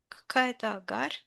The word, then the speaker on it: Hagar: Hagar czy agara czy agar? Hagar. Aha. Hagar brzmi.